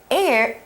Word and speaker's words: heir: Aries 代表的是女性财产的继承者。那这个 H 字首的 H 是不发音的哦。If it's not a woman, we say heir, H-E-I-R, 财产继承者。So what do you think about his plan here?